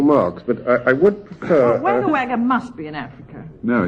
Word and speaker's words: Wagga Wagga: May I say, Jack, before you're brained with a tube of ice-cold Foster's, that it's pronounced Wagga Wagga.